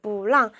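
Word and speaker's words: 不让: 하지 못해 하면은 무랑이에요 뿌랑 뿌는 사성인데 얘가 사성이니까 여기서 이성 발음 해줘야 되겠죠 그래서 몰랑 누구한테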